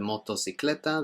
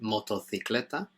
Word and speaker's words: motocicleta: In Spain, instead of motocicleta, they'd pronounce it motocicleta.